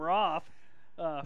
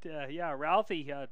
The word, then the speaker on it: Routhey: I've been calling him Roth forever, but Routhey, a nice game and a good tackle there.